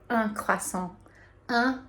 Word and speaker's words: un: So that's spelled UN, and I think originally for me, like when I saw that word, I wanted to say like un or une, something like that, but it's un. And if you think about kind of like making a fake little smile, you will have the UN pronunciation correct, and you can say